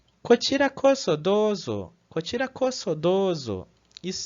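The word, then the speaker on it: こちらこそ: Uma coisa importante aqui sobre pronúncia é que aqui o S, apesar de estar entre duas vogais, para o japonês isso não vai influenciar, tá? Então ele vai continuar sendo pronunciado como so, né?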